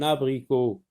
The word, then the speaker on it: abricot: Un abricot. Abricot. Abricot. La lettre T est une lettre muette.